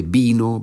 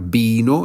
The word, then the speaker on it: vino: Vine, viniste, vino, vinimos, vinisteis, vinieron. La V se pronuncia como B en español. Y es verdad, la tercera persona del singular, vino, es exactamente igual que la bebida.